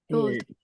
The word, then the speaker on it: should: The pronunciation, I know you write L, but the pronunciation is without L. You say should, should, should. You write L, but you don't pronounce L.